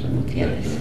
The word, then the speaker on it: Gutierrez: Gutierrez. How we pronounce it.